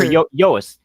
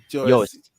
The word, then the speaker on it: Joest: Or Yoast. My pronunciation is off. Yoast.